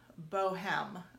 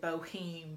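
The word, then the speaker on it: Bohème: art gallery it's called indy bohem that's probably the correct pronunciation earlier i said boheme but i will southernize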